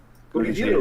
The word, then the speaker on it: Gurihiru: Gurihiru. Pronounce the name.